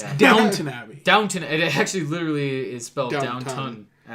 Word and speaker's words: Downton: Downtown Abbey. I guess they're making a Downtown Abbey movie. Who cares? It's Yeah. Downton Abbey.